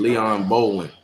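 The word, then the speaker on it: Leon Bowling: not really understand um how I'm pronouncing the name. L E O N B O W L I N G, you know, I mean, Leon Bolan, you know, I mean,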